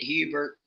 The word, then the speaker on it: Herbert: But we pronounced it Hubert. So Hubert, yeah.